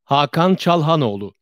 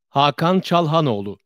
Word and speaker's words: Hakan Çalhanoğlu: This is how the pronunciator said it. Hakan Çalhanoğlu. Hakan Çalhanoğlu. That's how they said it.